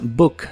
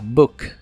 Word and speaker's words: book: que significan un libro la palabra book se pronuncia con la u corta y explosiva a book a book y usaremos